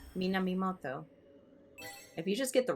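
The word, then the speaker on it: Minamimoto: him p man whoa how do you pronounce his name Min Moto yeah that's the correct way to pronounce it I had a a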